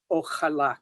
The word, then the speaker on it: ojalá: So the X was originally an SH sound, then it became an H sound.